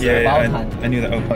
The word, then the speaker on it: Obaltan: Remember, it's Obaltan. I knew that. Oh, it's called Ujatang. Obaltan. Can you pronounce it, Sam?